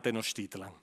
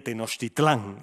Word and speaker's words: Tenochtitlan: Y ahora llega la entrada en Tenochtitlan. Aquí la diferencia... En náhuatl debe decirse Tenochtitlan, pero la castellanización ha hecho que nosotros hablemos siempre de Tenochtitlán y que le pongamos un acento en la A.